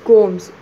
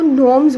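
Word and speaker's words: gnomes: And then G एन ओ एम ई एस, गोम्स, उसको नोम्स बोलते हैं.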